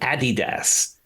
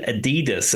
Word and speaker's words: Adidas: Yeah, I'd never heard of the pronunciation Adidas until I lived here, because I always thought it was, knew it was Adidas.